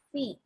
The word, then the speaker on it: pi: Nah, simbol yang berbentuknya seperti N ini dibacanya bukan N ya, tapi dibacanya adalah Pi.